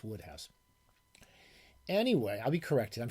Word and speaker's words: Wodehouse: Wodehouse books, I believe it's pronounced. It's pronounced different than it looks. I think it's Wodehouse.